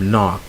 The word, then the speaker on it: knock: So you have no, knife, knee, and then you have knock. Okay, there are other words that start with K and the K is not pronounced.